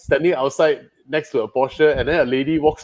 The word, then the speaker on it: Porsche: And then it's like, they know Americans say Porsche, right? And he said, no, it's a Porsche.